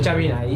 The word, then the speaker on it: Jambinai: So if you could please, how do you pronounce your names like correctly? Because I know nothing about Korean. Jambinai. Jambinai.